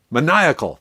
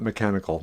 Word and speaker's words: maniacal: manical my manic man maniacal that's how you pronounce it not mechanical maniacal laughter okay oh